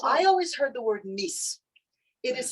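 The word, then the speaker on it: מיאוס: But in Yiddish, it's pronounced mis.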